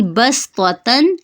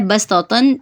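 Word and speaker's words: بصطة: इनको पढ़ने का तरीका यह है कि इनसे पहले जो दो है उनमें सीन पढ़ा जाएगा।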